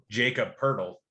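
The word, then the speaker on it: Jakob Pöltl: now if i talk for 10 minutes about jacob purdle i'll cut you off at least you pronounced it correctly congratulations i'll fire up your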